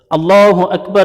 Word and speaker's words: اللہ اکبر: اکبر، جس کو 4 مرتبہ کہا جاتا ہے۔ اللہ اکبر کا صحیح تلفظ اللہ اکبر۔ اگر اس کو ملا کے